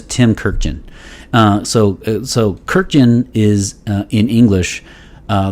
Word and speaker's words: Kurkdjian: kirkjen uh so so kirkjian is uh in english uh the pronunciation it is k-u-r-k-d-j-i-a-n that is an armenian last name so in in in